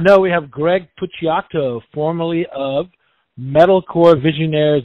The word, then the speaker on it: Puciato: and it does not know we have greg pucciato formerly of metal core visionaires the dillinger escape